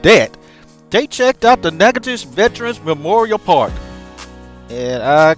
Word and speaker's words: Natchitoches: They checked out the Natchitoches Veterans Memorial Park. And I cannot believe that's how you pronounce, uh, that. I I could have sworn it was Natchitoches or whatever, but You want to talk